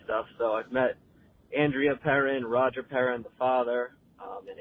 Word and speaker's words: Perron: original Conjuring movie, and you kept pronouncing it Perron. It's actually pronounced Perrin, and every time I heard you do it, I wanted to rip my ears out.